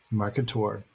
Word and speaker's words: Marketaur: the monster market tour market tour like a dinosaur a marketer so it's